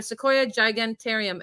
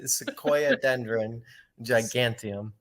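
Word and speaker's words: Sequoiadendron giganteum: I've got a Sequoia Gigantarium. Am I saying it right? I don't think I am. Sequoia Dendron Giganteum.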